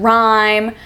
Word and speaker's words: rhyme: initial RH as in rhyme rhetoric and Rap City so the H is silent you don't need to sound out the H but it is in